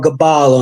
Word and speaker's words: Byblos: Or Gabal on there, which is how you pronounce Byblos.